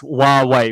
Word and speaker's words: Huawei: That's how you pronounce it with in Chinese, basically. It's Huawei. Hua meaning like wow, Huawei. So Huawei. If you say Huawei, that's fine too.